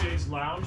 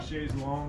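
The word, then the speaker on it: chaise longue: You know, a lot of people think it's pronounced chaise lounge, but it's actually chaise long.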